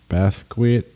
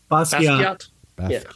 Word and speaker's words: Basquiat: Our classic is, how do you pronounce that? Basquiat. Basquiat.